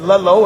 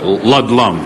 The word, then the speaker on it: Ludlum: And Andy, I want to, because I said Ludlow, and I want to correct me because I want to be on the air and say it right there.